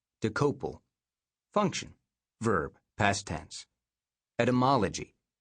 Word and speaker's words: Dokoupil: Main entry: D O K O U P I L. Pronunciation, decouple.